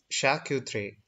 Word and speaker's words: charcuterie: sausage cold cuts etc the correct french pronunciation is shah q3 okay so you need